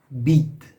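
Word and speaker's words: بید: So in the word beat, well, it's kind of a short e, I guess.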